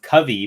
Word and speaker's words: Kavi: It's pronounced Covey, but it looks like it's spelled like Kavi or Kavi, but it's just a Hindi word for poet.